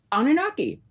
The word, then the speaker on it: Anunnaki: I say it wrong, I'm so sorry, the Anunnaki in her new book, The Anunnaki Revelation. Now, Heather, please correct us. Um, Anunnaki, that's good.